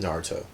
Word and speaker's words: Naruto: I don't want to get deep into Naruto, but it's pronounced Naruto.